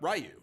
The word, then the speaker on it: Ryu: like you know uh you brought up rayu like it's you know Ryu is the accepted pronunciation but it's actually not that in like Japan it's like R it's like really quick and there's like a d somewhere in there right and it's